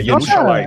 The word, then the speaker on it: Yerushalayim: Hebraico não tem som de G. Não tem. G nem J, nada. E nem J. Nada. É Yerushalayim, é J de agora. Yerushalayim. O J é uma letra tardia.